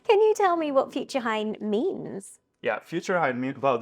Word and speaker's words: futurehain: You're still very much involved with Falling Walls, but you have now created a new startup called Future Hein. Can you tell me, did I pronounce it correctly?